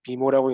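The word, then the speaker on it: MIMO: 네, 지금 채팅창에 미모라고 읽는다고 하는데 제가 인터넷 찾아보니까 뭐 미모, 마이모 뭐그 다양하게 읽는다고 하더라고요.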